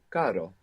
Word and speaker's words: caro: The word for expensive is caro. So Caro. it's like carro, but with one R.